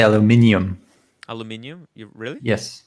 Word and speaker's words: aluminium: but in exchange the english people have to pronounce the i an aluminium this is why this